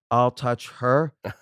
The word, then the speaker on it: Altucher: but the real way to pronounce it is I'll touch her fast.